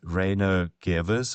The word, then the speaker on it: Reino Gevers: Reo Gvers.